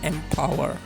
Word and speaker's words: MPWR: digitalnya yang bernama Mpower, atau biasanya kalau tulisannya adalah MPWR, tapi menurut Indosatnya ini dibacanya Mpower.